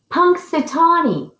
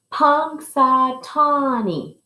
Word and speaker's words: Punxsutawney: his real name is punxsutawney phil can you say punk satani punk satani and this is when